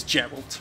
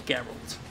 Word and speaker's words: Geralt: The controversial Destructoid video review of The Witcher 3 where my good friend Jonathan Holmes pronounced his name as Gerald rather than Geralt.